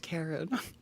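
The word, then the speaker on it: Charon: I feel like they'd be a funny YouTube like a sketch or something like I hate that it's pronounced Karen.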